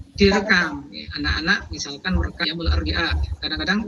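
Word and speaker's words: يوم الأربعاء: Anak-anak misalkan merekam yaumul arbi'a, kadang-kadang yaumul arbi'a itu salah yaumul rabi ya. Kadang-kadang karena Rabu itu atau hari Rabu itu ya Rabi ya, padahal yaumul arbi'a.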